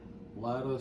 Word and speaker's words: Latta: how do you pronounce that? Latta, South Carolina.